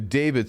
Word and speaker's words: D4VD: David is spelled D4VD.